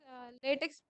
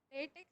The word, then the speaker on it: LaTeX: Latex is pronounced as latex. Okay, it's not latex. It is latex. At last, C will come.